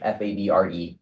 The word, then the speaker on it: Favre: No, I just It's because I can't pronounce words in French. F A B R E.